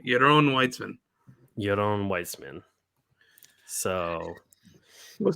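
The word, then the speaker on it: Yaron Weitzman: written by euron weitzman your own weitzman how's it pronounced or how's it spelled y-a-r-o-n w-e-i-t-z-m-a-n well it's definitely a jewish guy yes your own it's probably a israeli name your own weitzman your own weissman so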